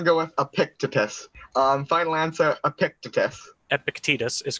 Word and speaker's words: Epictetus: Final answer, Epictetus.